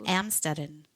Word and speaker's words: Amstetten: Amstetten, and I just looked up how to pronounce that in here. You hear it? Oh. Amstetten.